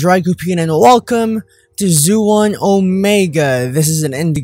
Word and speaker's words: Xuan: am i right uh-huh it's pronounced zoo on like a iguana ooh zoo yeah right